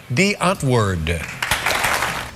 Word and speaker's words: Die Antwoord: It's just Afrikaans for the answer. And if the sleepy old fogey David Letterman can get it right, so can you. Tomorrow, ladies and gentlemen, please welcome Dee Antwoord.